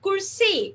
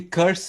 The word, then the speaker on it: Kurse: For example, Kurse is, did I say that correct, Sunny? That's actually curse. It's spelled with a K.